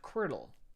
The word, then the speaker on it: Quirtle: And then we have Quirtle, spelled like QWERTY, like Quirtle. Not Quirkle. I've played Quirkle, but Quirtle.